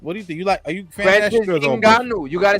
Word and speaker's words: Ngannou: Are you fan Francis Ngannou?